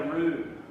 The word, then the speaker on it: roux: And on the low heat, we're going to make our roux.